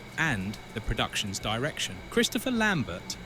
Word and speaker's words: Lambert: the production's direction Christopher Lambert who played the iconic Raiden it's pronounced Lair was unavailable due to